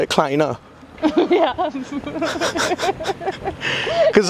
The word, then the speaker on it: kleiner: Kleiner.